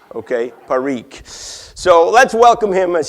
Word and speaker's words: Parikh: Here's how you pronounce his name, okay? And you're drinking gin. Sajan, okay? Parikh.